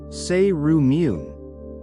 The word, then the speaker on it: cerumen: Earwax, also known as cerumen, pronounced say-roo-meen, is a waxy substance inside your ears.